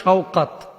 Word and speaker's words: শওকাত: তো বাংলা ভাষাভাষীরা আমরা আসলে উচ্চারণ ভুল করে থাকি, নামটা শাকাত হয় না, হইতে পারে শওকাত।